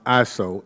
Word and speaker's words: ISAO: sharing environment dominated by isao pronounced ISO as a president in